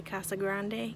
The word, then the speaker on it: Casa Grande: park in casa grande don't say casa grande because that's not what